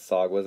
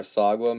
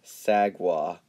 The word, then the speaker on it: Sagwa: We should bother Sagwa Meow by pronouncing her name Sag-Wah to see her reaction.